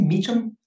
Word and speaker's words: Meacham: - You've taken issue recently with another writer, (Sarada laughs) named Jon Meacham. Is this how you say it: Meacham? - Yes.